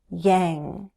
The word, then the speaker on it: Yang: His last name and the name of his supporters give us practice with that NG sound, Yang. His supporters were and are still known as the Yang Gang. The Yang Gang. The NG sound is a voiced sound, and it's similar to N, but we use the back of our tongue.